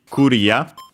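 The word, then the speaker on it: クリア: In this case, for example, we have clear, which becomes simply Korea.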